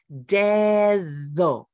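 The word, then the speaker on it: dedo: Spanish here's my finger the way we spell finger in Spanish is d-e-d-o but it has two sounds of the D deso look at my tongue what happened to the second D death though I stuck it out that English that English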